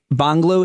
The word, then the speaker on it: Bangla: And then English, Bangla, is how it's pronounced, Hindi.